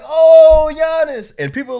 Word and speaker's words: Giannis: not even gonna try gianni's attention to kumpu yeah all right anyway his name is giannis and it looks like giannis if you don't know that there's a silent g who has a silent